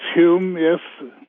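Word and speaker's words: Hulme: people Robin Hood gardens in London is it pronounced Hume Hume crescents yep whom and then of course we have our own pruitt-igoe in st.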